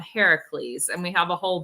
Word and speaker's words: Heracles: everyone pronounces it but if you're trying to be true to the Greeks you got to call him Heracles and we have a